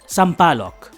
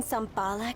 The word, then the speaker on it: Sampaloc: to you either but it's pronounced sampaloc is i could just get a ride at that bus stop it's boring out there let me drive you where do you live over in sampalak anyway you can't expect